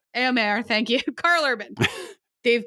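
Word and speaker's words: Éomer: Eomer, thank you.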